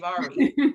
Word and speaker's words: Avery: Sort of like aviary without the I. Okay, Avari.